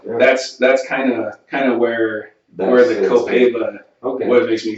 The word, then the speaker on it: Copaiba: The Gogiba. How do you pronounce that? Copaiba. Copaiba.